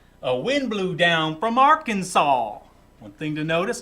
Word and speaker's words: Arkansas: wind blew down from arkansas one thing to notice arkansas has an s on the end but you don't pronounce it arkansas it skipped the